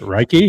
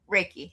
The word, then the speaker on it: Reiki: Reichy. Is that how you say it? Reiki. Raiki.